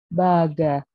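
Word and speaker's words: バーガー: Kenapa Baga? Kan dia pelafalannya kalau American accent kan burger gitu kan, tapi kalau British accent kan kayak Baga gitu kan. Makanya lagi-lagi karena nggak ada dalam katakana, dia dikasih panjang, makanya jadinya Baga gitu.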